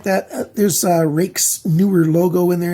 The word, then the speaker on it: Ruike: It's not Ruike or something. It's pronounced like my first name. You pretend the UI is A, and you say Rike, and you'll get the pronunciation correct on this knife.